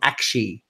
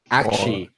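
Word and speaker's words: Aqshy: you pronounce it is not as in a hug, like squishy. We're calling it that. It's called Akshi. Akshi.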